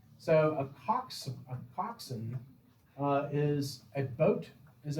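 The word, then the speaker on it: coxswain: water and they are actually captained captained by toxins c-o-x-s-w-a-i-n pronounced toxin it's kind of like focusing right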